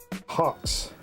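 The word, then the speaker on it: Hox: Black Market brass uh I want to say hoax but there's no a so HX HX HX well how do you pronounce that Hawks Hawks a heroic dose of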